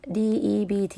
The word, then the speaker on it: debt: ะ ก ด เ ป็ น ว่ า debt แ ต่ ว่ า ตั ว b ไ